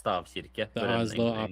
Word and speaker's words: stavkirke: That's how you Yeah, pronounce it. yeah. In Norwegian, it's Stavkirke.